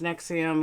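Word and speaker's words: NXIVM: of like Keith Raina from XM pronounced nexium of branded women of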